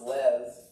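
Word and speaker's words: לב: It comes to us in the Old Testament, and there's a Hebrew word for heart. It's pronounced lev.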